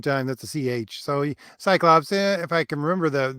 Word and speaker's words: Cyclops: or is it pronounced kyops wait wait wait wait what I I was always taught that the ancient Greeks didn't pronounce the C with no they didn't they use like a k I didn't even know